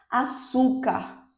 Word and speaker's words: açúcar: Por exemplo, açúcar, açúcar, açúcar, açúcar. Percebem? Então, penúltima sílaba é a mais forte, é a sílaba tônica, então esta é uma palavra paroxítona.